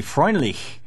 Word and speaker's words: Freundlich: Fred Freundlich is with us. Fred, your last name in German would be Freundlich. Right. How do you say it? Pretty close to that. Oh, great. Exactly that.